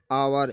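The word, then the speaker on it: hour: आवर, इसको भी एच नहीं बोलते, आवर मीन्स घंटा।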